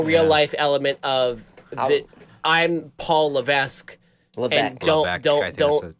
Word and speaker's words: Levesque: he's creating a real-life element of I'm Paul Levesque look at don't don't don't yeah thank you